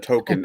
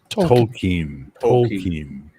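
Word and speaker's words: Tolkien: Not token. Uh Lord of the Rings. Tolken.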